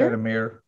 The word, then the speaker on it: Shadamir: Shadamir, M-E, like M-E-R.